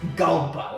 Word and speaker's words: Gulpa: Gulpa, like you're taking a gulp of something.